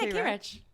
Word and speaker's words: Kayrecch: Yeah, Kayrecch.